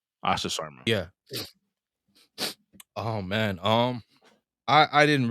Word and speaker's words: Asha Sharma: I believe it's pronounced Asha. Last name is Sharma. Asha Sharma.